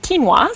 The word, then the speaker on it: quinoa: will say like what is quinoa and it's pronunciated quinoa so I finally figured that one out some